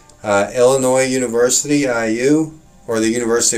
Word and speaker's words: Illinois: new new state the s is silent remember that kids the in illinois is silent okay but